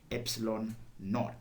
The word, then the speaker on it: epsilon naught: this is the epsilon it is uh pronounced as epsilon naught so this is the